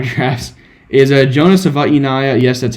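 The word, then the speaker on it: Savaiinaea: lot of my M drafts is a Jonah SAA yes that's how you pronounce it SAA I have done the research uh he he's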